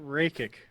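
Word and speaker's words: Rakić: Anthony Smith versus, here we go, Alexander Rakic. There you go. Reiki. Awesome. Always coming through with the pronunciations.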